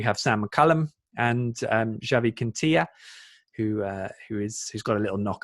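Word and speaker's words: Quintillà: And it feels like we've got best of both worlds, actually, because Quintilla feels like he's the more defensive minded.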